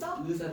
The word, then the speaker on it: 의사: 의사 이사 안 되고 의사 된다고. 어 의사 의사 거야.